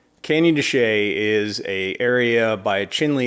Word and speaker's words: Canyon de Chelly: going to talk about Canyon dechay spelled like this but pronounced like that anyway candy Shea is a area by